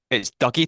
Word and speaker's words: Dougie: So it's Dougie to anyone outside of Scotland. If you're Scottish or from Glasgow, you would say Dougie.